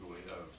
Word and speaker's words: Gouy: And you, Mr. Gouy, that's the right pronunciation, right, I believe, the right pronunciation.